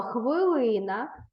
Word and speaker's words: хвилина: будь ласка увагу що слова хвилина пишеться з буквами и і наголос падає на другий склад на звук и запишіть це слово з